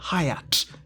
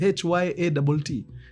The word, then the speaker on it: Hyatt: in a hotel called Hyatt Babe, is it called Hyatt? H-Y-A-T-T It's Hyatt not Hyat Okay, however you pronounce